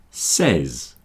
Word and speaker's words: says: Says, says. There are three sounds. S, e, z.